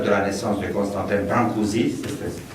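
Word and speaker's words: Brâncuși: la naissance de Constantin brancouszi c'est ASI qu'on n prononce en français brancouche com vous voulez considéré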